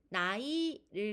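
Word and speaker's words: 奶奶: 자, 발음은 나이를 가지고 발음해 보도록 하겠습니다.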